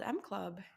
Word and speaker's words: EMME Club: And my new baby is called M Club, and it's spelled like EMME Club.